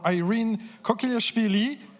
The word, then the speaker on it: Irine Kokilashvili: Okay, so again, I will try to pronounce it perfectly. So now it's time for Irine Kokilashvili.